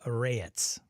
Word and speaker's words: Rayetz: It's Luca Rayetz, phonetically. I love it how Nubis, I know where Nubis lives, and speaks probably and enunciates better English than I do.